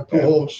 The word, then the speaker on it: Pujols: It's Spanish. You have to say it right, Pujols.